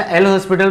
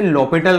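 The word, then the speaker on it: L'Hôpital: अच्छा, एल हॉस्पिटल rule को actually बोलते हैं लॉपिटल रूल बोलते हैं, लॉपिटल रूल से ही प्रोनाउंस करते हैं।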